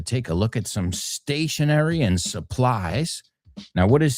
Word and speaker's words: stationery: Se pronuncian exactamente igual, and that is like an exercise bike, right?